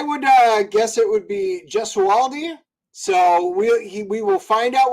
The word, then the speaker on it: Gesualdi: It's actually interesting is that my entire family has been pronouncing it Gesualdi. But my sister looked into the root of the word and she's like, we're all pronouncing it wrong. It should be Gesualdi.